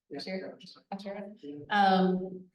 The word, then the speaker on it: Asherah: Asherah.